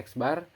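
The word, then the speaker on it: x̄: Untuk rumus umumnya tuh X bar, ya ini dibacanya X bar, sama dengan jumlah keseluruhan data dibagi banyaknya data.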